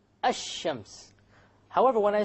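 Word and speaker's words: الشمس: where is the lamb silent silent it's not pronounced right I Shems however when i say i will comedy i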